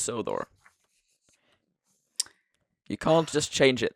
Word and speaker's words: Sodor: And Sodor is supposed to be pronounced with a an elongated O. So Sudor. Hell no. Hell no. Hell no. I had a feeling. It's Sodor. Yeah, it is. It's Yeah. Yeah. It's just Sodor.